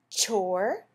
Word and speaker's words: chore: not a real word let's add the silent e to the end we use that e a lot on o r words did you say chore very good how about this